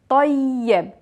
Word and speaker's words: طيّب: In the masculine, we have shadda on the ya, so we are pronouncing the ya two times, tayyib.